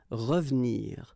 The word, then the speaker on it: revenir: So you've got re, and then ve and nir, but then clearly you don't pronounce it, so you get revenir, revenir.